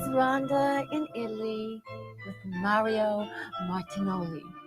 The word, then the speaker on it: Martinoli: Anyway, here is Rhonda in Italy with Mario Martinoli. See? I got it right. You know why? Because it rhymes with cannoli.